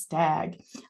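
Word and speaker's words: S2AG: is open Alex and semantic scholar academic graph pronounced stag uh if you were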